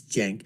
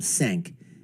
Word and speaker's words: Cenk: s and I know how the name is pronounced it's Jen but you know I call him sank anyways from The Young jerks right not The